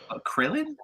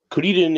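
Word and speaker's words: Kuririn: Krillin? Kuriden. What's Krillin? Kuriden is something. It's like a pun in Japanese, but you pronounce it Kuriden.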